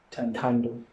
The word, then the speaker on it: Tando: And what she's trying to explain is that it's just Tando. There's no extension, or there's no prefix or suffix to her name. It's just that. Tando. She even said the J is silent.